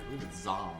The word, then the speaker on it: Zam: They say it like it's Z-O-M. It's A-M.